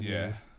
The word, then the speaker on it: Oranje: It's pronounced Oranje.